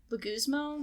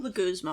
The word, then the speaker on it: Leguizamo: Can I see how it's spelled? It's Legui Leguizamo? Leguizamo, I believe.